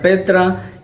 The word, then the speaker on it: Petra: la concordancia strong y dice que se pronuncia Petra y la definición dice